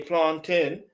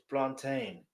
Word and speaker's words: plantain: So all you that want to say plantin, it's plantain.